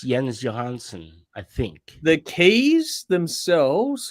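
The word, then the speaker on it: Jens Johansson: Dave's interviewed him but he doesn't doesn't say his name right the keys on this is not him it's yens Johansson I think the keys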